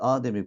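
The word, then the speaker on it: âdem: tane Adem vardır Biz insan anlamındaki Ademi kullanmak istiyorsak Adem ifadesindeki a Uzun olacaktır okunuşu da ona göre olacaktır yokluk anlamında ise Adem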